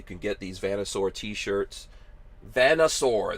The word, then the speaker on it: Vanasaur: get these vanasaur t-shirts vanna sore that's how you say it it's like you know connoisseur but vanasar you know